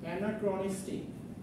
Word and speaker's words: anachronistic: anachronistic এটা চো না, এটা ক্র। Anachronistic।